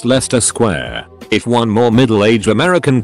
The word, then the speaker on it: Leicester Square: It's just pronounced Leicester Square.